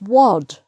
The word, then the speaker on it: wad: But when you come to W, it's not pronounced wad, it's pronounced wad. So it's like an O sound, o. So the W changes the vowel sound.